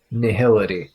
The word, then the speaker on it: nihil: I'm pretty sure I looked up the pronunciation of that word before and that one is actually dictionary pronunciation nihil.